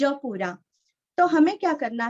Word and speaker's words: प्रातः: प्रात, त के आगे विसर्ग का उच्चारण हल्का सा प, प्रातः प्रातः।